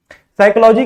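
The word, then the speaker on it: psychology: pronounce नहीं करते हैं साइकोलॉजी के स्टार्टिंग में पी आया है लेकिन इसको प्रोनाउंस नहीं करते हैं आईलैंड में एस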